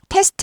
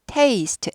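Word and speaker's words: taste: 하기 위한 기회예요 는요 테스트 아니고 테스트에요 테스트는 시험 시험하다 검사하다 테스트 이거 아니고요 이건 테이스트 a 발음이에요 달라요 발음이 이거 구분 못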